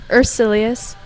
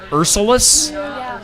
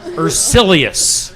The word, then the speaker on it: Ursilius: How do you pronounce your last name again? Ursilius. Ursilius. All right. I think I've always wanted to say Ursulus. Ursilious.